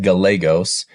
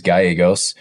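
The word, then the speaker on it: Gallos: pronounce our last name we pronounce it Galos I think the proper Spanish well I know the proper Spanish pronunciation is gyos so I get a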